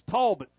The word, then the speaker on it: Talbot: John Lewis would tell me I'm pronouncing that wrong. It's Talbot. Right, Stephen? It's Talbot.